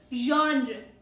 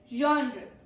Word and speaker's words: genre: A Frenchy ZH sound. Genre. Genre.